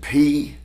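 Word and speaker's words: πρός: N, and E-N is pronounced N. But the Holy Spirit does not use that preposition. He uses the preposition P-R-O-S, pros.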